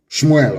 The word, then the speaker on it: Shmuel: Shmuel, of course, correct pronunciation.